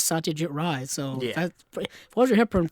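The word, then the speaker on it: Satyajit Ray: And she yeah she pronounced it as Satia Jit Ry.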